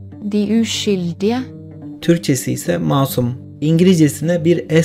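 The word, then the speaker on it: Den uskyldige: Filmin adı Norveççe'de şöyle okunuyor. Die Uskyldige.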